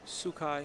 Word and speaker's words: Sookhai: Yeah, how do you pronounce his last? Sookhai? Sookhai.